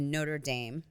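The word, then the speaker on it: Notre-Dame: was the um the Notre Dame or um yeah it's been restored yes it's been restored I'm saying it wrong it's Notre notredam in Paris so I saw it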